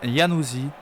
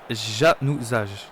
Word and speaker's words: Januzaj: Donc en Angleterre, il est prononcé de deux façons différentes. Donc Adan Januzaj et Adan Januzaj.